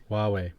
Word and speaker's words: Huawei: The Hawaii the phone people. You know, the phone people who are now banned from Google. Huawei.